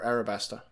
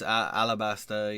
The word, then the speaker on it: Alabasta: princess of alabasta or how does how do they pronounce it in in the show alabasta or arabasta it's alabasta yeah in the show but I know that